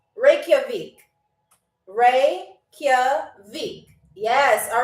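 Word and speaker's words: Reykjavík: It is pronounced Reikavik.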